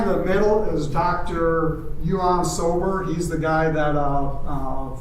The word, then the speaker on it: Ion: And he looked at me, and he goes, He goes, no, in Romanian, I is pronounced with a J. Yuan, which is John.